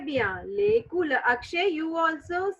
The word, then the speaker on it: les couleurs: So the heading is lay cooler. Cooler. Okay. Lay cooler. है भैया. Lake. Yeah. Lay cooler. Yeah. All of you say 2 times. Lake Lay cooler. cooler. है भैया. Lay cooler.